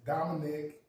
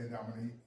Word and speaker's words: Dominic: Um it's funny because my family always pronounce my name as is Dominic. Dominic Henry. But um people from LA always say Dominique. It just rolls off the tongue the way it is.